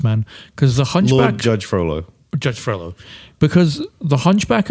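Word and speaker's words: Frollo: And you've just said Judge Frolow. It's a tough tough one. Froo Judge F R O L O. So Froolo.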